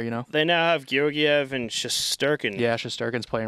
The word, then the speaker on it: Georgiev: Yeah, Georgiev.